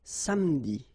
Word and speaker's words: samedi: Starting at the second place or the second syllable, and after, then you don't pronounce it.